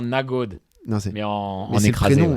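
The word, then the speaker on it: Nørgaard: Et Norgard, il y a d'ailleurs Christian Norgard, quand il prononce son nom. D'ailleurs, ça doit être pareil avec Adegård. C'est pas ça, c'est comme ça. Norgard. Christian Norgard. Non, mais c'est un truc genre Nagod.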